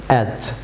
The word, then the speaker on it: edge: যেমন এজ, এখানে D silent থাকবে এজ। যেমন ব্যাজ ভিউয়ার্স, এখানে ডি সাইলেন্ট থাকবে, বলুন ব্যাজ, ব্যাজ ভিউয়ার্স।